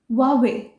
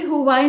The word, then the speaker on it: Huawei: So the next brand in the list is Huawei. Yes, it's not Huawei, it's Huawei. Although it starts with H, but हम इसको pronounce करेंगे Huawei.